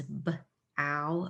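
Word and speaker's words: bough: do like cookie dough it can be an ow sound like in this word which is Bow Bow like the bow of a tree it can also be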